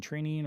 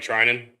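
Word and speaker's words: Treinen: but I think it was Triny when Trinian or whatever how you how say his name when he went from the A's to the Dodgers like Oh, Blake Trinan.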